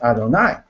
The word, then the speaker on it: Adonai: says the teacher says don't say it like it's written it's Adonai so just um just